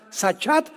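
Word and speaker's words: שחת: es importante porque es la palabra hebrea sach se escribe con s Samuel y ch como suena sachat con t de tío al final y esta palabra significa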